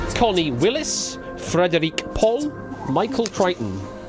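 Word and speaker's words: Crichton: Connie Willis, Frederick Paul, Michael Kryton. It's spelled as kitten.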